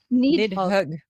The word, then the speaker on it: Nidhögg: How would you pronounce it, Matt? Nidhögg. Nidhögg.